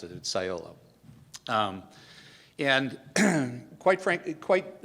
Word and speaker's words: Cyolo: first questions we get is how do you pronounce it at sciolo um and quite frankly quite uh succinctly what